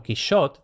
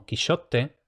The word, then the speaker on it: Quixote: En época de Cervantes, el nombre del héroe se escribía con X, Don Quichote, y se le pronunciaba todavía en la España del siglo X. De la misma manera que el grupo consonántico francés SH. El francés Don Kishot de la misma forma que el italiano Don Quishotte es, por tanto, una transcripción que respeta la pronunciación española de la época.